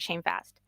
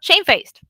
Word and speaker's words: shamefaced: guilt or shame which a long long time ago was pronounced like shame fast and nowadays people forgot about this word fast because they're not using it anymore at all and well shame faced that's it that makes sense